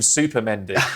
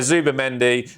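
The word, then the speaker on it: Zubimendi: of mispronouncing names but he called him Super Mendy which I think he should just accept. That's great. Yeah absolutely. So yeah, Zuba Mendy and then obviously um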